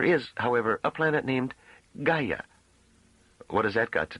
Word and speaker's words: Gaia: There is, however, a planet named Gaia. What has that got to do with it? Ga. It's spelled G A I A. It means Earth.